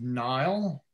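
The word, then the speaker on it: Nyle: Another company that has excellent customer service is Nile. And I'll put that in there as well. Nile. If I can spell it, right?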